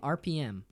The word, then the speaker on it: Arpiyem: Arpiyem.